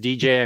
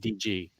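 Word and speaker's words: D.G. Chichester: talk to DJ DG himself if I said DJ I meant DG uh okay oh this is a biggie Fantastic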